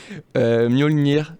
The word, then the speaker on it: Mjolnir: On vient d'écouter une de tes musiques en introduction, intitulée, alors j'ai du mal à la prononciation du titre. Je vais te laisser essayer au moins une fois. Mjolnir 2000.